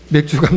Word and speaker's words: 맥추: 것입니다 오늘은 무슨일이 라고요 맥주랑 차지 지금 발음 좀 조심하셔야 돼요 맥주가 아니고 에 맥주가 아니고 맥주 감사 주일입니다 몇주 감자 주인은 어떤